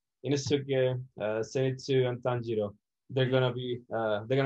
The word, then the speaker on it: Zenitsu: How do you pronounce it? Zenitsu? Zenitsu. Zenitsu.